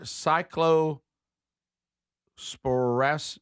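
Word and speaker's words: Cyclospora: Um and but still to try to supplement uh we are going to have a little more cycllo sporas.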